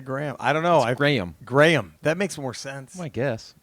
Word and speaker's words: Graham: say Graham American and pronounced Graham like gray am Graham Graham but what